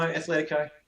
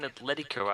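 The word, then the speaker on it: Atlético: say it yeah no Athletico oh sorry I'm in cook that was me yeah sorry cookson how do you say it I'm again Atletico I mean admittedly they've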